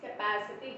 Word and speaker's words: capacity: Means the stress is on the a, means here a. Okay, means capacity here.